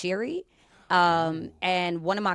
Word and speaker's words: Seary: Um, apparently it's Irish and so it's pronounced Sherryi.